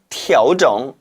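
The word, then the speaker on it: 调整: 따라서 이때는 조절하다는 뜻이기 때문에 调整 으로 발음하는 반면 지금 여기에 쓰면 안 되겠군요.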